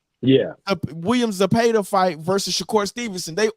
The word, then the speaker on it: Zepeda: He was like, the WBC ordered William Zepeda. Did I say his name right? Yeah. William Zepeda fight versus Shakur Stevenson.